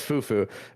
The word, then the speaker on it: Fufu: out performance today, Fufo, is it Fufo, or what? How do we pronounce it? Fufu, yeah, Okay, it's Fufu.